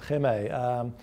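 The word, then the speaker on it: Hema: They've got these stores, H-E-M-A, I think you pronounce it Heme.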